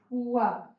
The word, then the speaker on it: पुआ: पुआ, पूजा। पुआ में जानते हैं पकवान, पुआ। यानी प में छोटा की मात्रा लग रहा है, इसमें कम समय लग रहा है उच्चारण करते समय।